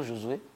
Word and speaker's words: Josué: Moi, c'est Josué. Josué. Josué, comme ça, Josué.